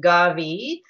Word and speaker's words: Gavi: And it's just pronounced Gavi, historical region dating back to 972, the year 972.